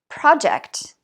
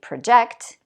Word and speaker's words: project: Progress, distance, image, focus, conflict, project, profit. What do you notice about the word stress in these words? On the first syllable again, profit. I don't say profit. Project. I don't say project.